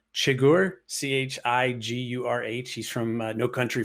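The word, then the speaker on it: Chigurh: is anton i think his last name is pronounced chagor c-h-i-g-u-r-h he's from no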